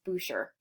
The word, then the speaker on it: Boucher: This is by Francois Boucher. Boucher is the perfect example of the Rococo. Now you might be thinking, Miss Cortez is Boucher. In French, an ER is pronounced A.